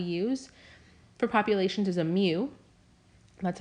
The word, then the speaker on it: mu: center that we use for populations is a mu that's how you pronounce this letter here to greek letter standard